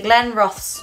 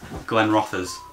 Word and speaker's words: Glenrothes: Your second attempt was close. It's Glenrothes. Glenrothes, okay. Again, it's a very English thing to do to pronounce it, Glenrothes.